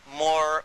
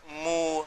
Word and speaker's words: Moor: What connects it up is even the word Moor, because it's pronounced differently in different parts of Africa. And they call themselves Moor, Mu, Muir. There's all variations of that, so that even the name Muir.